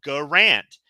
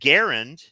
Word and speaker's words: Garand: yeah so they pronounced it the way it it's spelled garant but it's really garund and yeah he doesn't care and if you